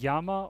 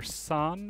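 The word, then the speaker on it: 山: here is mountain and they can be pronounced yama or san or zan just depending on there's a mountain in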